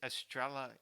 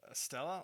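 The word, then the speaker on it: Estrella: that Dodger Stadium is Estrela how do you say astral astral a beer Oh Stella oh no it's estrela I think there's an R in there what's Drella oh yeah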